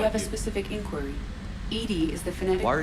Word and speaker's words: EDI: Edie is the phonetic. Why are you named Edie? Edie is the phonetic pronunciation.